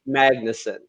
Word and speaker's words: Magnussen: where i'm at in the world it gets butchered far worse so it's uh magnussen magnus and that was cool i was close